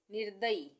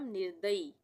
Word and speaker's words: निर्दयी: निर्दयी, निर्दयी, इसमें भी र का उच्चारण आ रहा है आधा, आधे र का उच्चारण, तो यहाँ पे ये रेफ की मात्रा लगेगी, इस तरह से लिखेंगे हम निर्दयी, निर्दयी, जिसमें दया ना हो, निर्दयी।